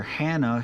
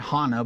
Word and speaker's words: Hannah: sons were serving as priest there it's where Hannah he said Hana but Hannah is the way we pronounce that we also pronounce it Shiloh and